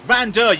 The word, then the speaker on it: van Dijk: 976 damage spelling no pronunciation for dutch it's van dijk you've got to keep the band there it's not it's vanda doing come on spelled out